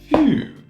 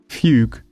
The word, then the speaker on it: fugue: And that word is fugue.